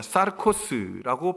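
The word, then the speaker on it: σαρκός: 자녀라고 말합니다 여기서 육체라는 단어는 헬라어에서 뭐라고 썼냐 사르코스라고 발음을 하는데 이것은 어떤 얘기냐 육체는 영이 깃들지 않은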